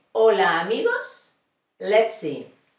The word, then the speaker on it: hola: hear that I said hola amigos let's see hola means hello this is an age in Spanish we never never pronounce the letter H okay it's silent and now I have